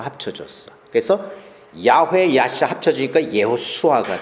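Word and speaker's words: יהושע: 해요 예수수라고 발언을 하는데 이에 수술과 그 히브리아로 발음했을 때는 예호수아가 돼요 예호수아는 뭐냐면 그 구약에 보면 여호수아 나오잖아요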